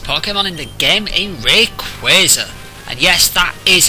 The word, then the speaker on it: Rayquaza: in the game a Rayquaza and yes that is how it's pronounced this is his last part of his name comes from quasars B still alive phenomena